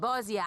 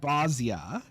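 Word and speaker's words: Bozja: provinces like wurlitz and bozia and many others will regain their freedom excuse me excuse me what do you mean bossia i have literally never heard anyone pronounce it that way not once ever when they do our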